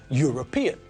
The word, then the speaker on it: European: true of the adjective European because it sounds like the first letter is a consonant we don't say earn